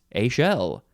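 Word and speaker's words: échelle: it is not literally a shell it is a shell e c h e l l e it is pronounced a shell noun from 1949 it is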